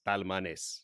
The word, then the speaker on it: Talmanes: in Spain too long you got to pronounce every letter by itself it's talmanes in Spanish so that's how I'm pronouncing it so he feels regardless